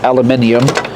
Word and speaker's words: aluminum: And of course these are aluminum, or as some of you might pronounce, aluminium screws.